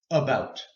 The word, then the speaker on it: about: A a apple but we don't pronounce the short a sound we don't say AB about we say about op now this is